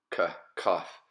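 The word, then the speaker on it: כף: With the dagesh or the dot, it's just a K sound, kaf.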